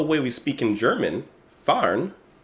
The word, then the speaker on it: fahren: we speak in German, fahren, I think that's how you pronounce it, fahren, which means driving, sounds like the English word fun.